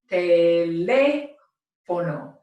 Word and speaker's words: teléfono: They wanted to override that natural pronunciation, and that is why we pronounce this word with the accent mark, teléfono.